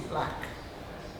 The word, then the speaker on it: BLK: black art group is instead of blk it is black that's how we pronounce it the black art group